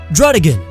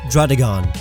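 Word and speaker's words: Druddigon: It's a bear, so why would you pronounce it Beartic? Drudigan. I used to unknowingly pronounce it Drudigon.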